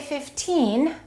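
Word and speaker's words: fifteen: The first thing that you need to know is for the numbers that end in teen, we stress the second syllable. So when we say 15, we emphasize this part.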